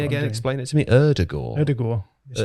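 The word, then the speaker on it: Ødegaard: you're actually like norwegian so i would say erdegaard but that's wrong erdogan you sort of soften the d you soften the d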